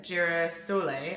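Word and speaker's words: Girasole: son oh let's see it says on the back how to pronounce it jira Soleil and then pronounce it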